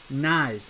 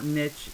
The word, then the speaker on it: Nyes: It is pronounced Nyes, Landon Nyes, like Matthew Nyes, Landon Nyes, not Nitch. It's Nyes.